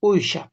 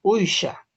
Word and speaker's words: uysha: Si bien es cierto, estimados colegas, yo estoy pronunciando pues Uysha, porque yo así he escuchado esa palabra desde que he ido teniendo uso de razón. Todos dentro de mi comunidad dicen Uysha, todos decimos Uysha.